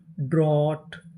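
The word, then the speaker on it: draught: अगर आपको इंग्लिश में कहीं पर GST लिखा मिले तो हम लोग GST को पढ़ते हैं टा, यानी हमें GST को क्या पढ़ना है? टा। और आगे लिखा है AU, AU को हम लोग पढ़ते हैं ओ। क्या पढ़ते हैं? ओ। तो हमारी मीनिंग क्या बनी? DR, draw. और आगे AU है ड्रॉ, GST टा। पूरी मीनिंग ड्रॉट, ड्रॉट।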